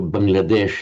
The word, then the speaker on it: Bangladesh: And we have it nowadays, we have Bangladesh, because that's in modern Hindi, Bengali, and the other languages in northern India, the final A is dropped. So Bangladesh, it would be in Sanskrit. So Bangladesh is how it's pronounced now, literally Bengal country.